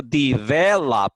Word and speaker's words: develop: sílabas de the lab pero la acentuación en la forma de pronunciación mayor la tiene en 2 escuchen de israelí si la pongo en la primera sílaba diría develop y si lo pongo en la última sílaba diría develop pero